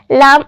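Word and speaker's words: لا: Next है लाम अलिफ। लाम और अलिफ, लाम एल और अलिफ ए, ला। लाम अलिफ पढ़ा जाता है ला।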